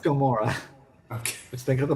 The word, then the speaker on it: Gamora: that one was actually is it Gamma or Gamora Gamora okay let's think of